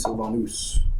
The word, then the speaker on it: Sylvanus: The Latin pronunciation is Sylvanus because it's Roman.